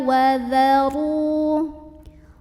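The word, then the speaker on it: وَذَرُوا: Ro-nya dibunyikan secara tafkhim karena ro-nya baris dhammah, maka bacanya ditebalkan, pangkal lidah kita dinaikkan. Wa dharu. Ru mad tabi'i karena ada waw sukun sebelumnya dhammah, maka bacanya panjang 2 harokat.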